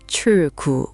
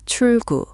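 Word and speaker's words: 출구: So, it's not chul gu with a hard break. It's more like chul gu with the L flowing into the G.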